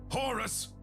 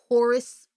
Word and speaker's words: Horus: Oh man, Horus rhymes with hubris.